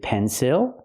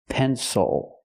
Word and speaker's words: pencil: this word is it pensil no it's not it is not pronounced with the I sound because the stress is on the first syllable the second syllable is